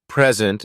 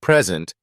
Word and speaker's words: present: or sentence for example in the words present and present the meaning changes depending on stress in one case it